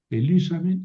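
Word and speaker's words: ἐλύσαμεν: ¿Por qué aquí vuelve a cambiar el acento? Porque la terminación es una sílaba, simplemente. En cambio, aquí la terminación son dos sílabas, sa, te. Lo mismo aquí, sa, men. Son dos sílabas, entonces tuvimos que correr el acento.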